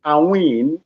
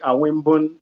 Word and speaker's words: Awin: My name is Awin. You can call me Awin or you call me Aimun.